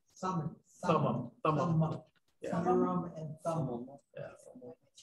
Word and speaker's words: Urim and Thummim: How do you say that again? Urim and? Urim and Thummim. Thummim. Thummim. Urim and Thummim.